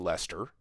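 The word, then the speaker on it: Leicester: people in the United States would stumble at pronouncing Lester it's uh it's not natural but lra is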